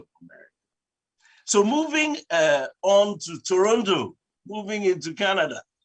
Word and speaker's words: Toronto: Well, in Canada, we are located in Toronto. That's how they say it, you know. With some of us, we used to say Toronto, but they keep telling us that it's Toronto.